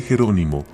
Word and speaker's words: Jerónimo: Se dice Jerónimo con el acento en la segunda sílaba.